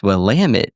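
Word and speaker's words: Willamette: her and he goes, "It's wamit, damn it." Oh, it is wam. Okay. So then he's like, "Okay, that's how you remember how to say it."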